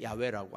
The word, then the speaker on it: 야훼: 그 왜 야훼라고 하냐면 쓰기는 여호와라고 써놓고 여호와라고 안 읽는 거예요. 못 읽는 거예요. 야훼라고 읽었어요.